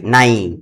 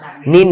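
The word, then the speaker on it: nine: এরকম মনে করো যে নাইন, এন আই এন ই, তাহলে আয়ের পরে এন, তারপরে ই আসে, এই জন্য আয়ের উচ্চারণটা করতে হবে আই। নাইন, নাইন। নিন না, কি রকম হবে?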